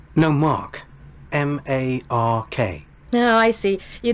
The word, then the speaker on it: Mark: not in my accent so in their accent they don't pronounce the r that sounds like Ma or something like that so yeah the first